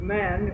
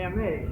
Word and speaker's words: Ma: There's the people, the man who's going now to his refuge, and he's accompanied by his servant.